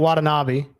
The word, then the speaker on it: Watanabe: was him but uh you don't want a Nabi that's how you say his name they must have spelled